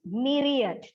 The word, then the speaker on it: myriad: It is written MY, but pronounced myriad.